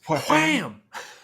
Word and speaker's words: Wham!: It was everywhere, everything, in a way that as much as like Wham, how was it pronounced? Wham!